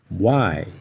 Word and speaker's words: Y: letras u Again I e talvez você observou que a pronúncia do Y Ela é bem diferente da pronúncia em português mas é bem parecido com a interjeição indagações que os mineiros fazem vai é exatamente essa a pronúncia e a mesma pronúncia